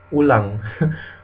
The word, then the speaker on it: ulang: The U is like in Spanish u. An example would be oh, ulang.